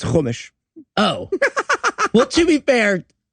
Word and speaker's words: Chumash: What is a shumash? Nope. It is chumash.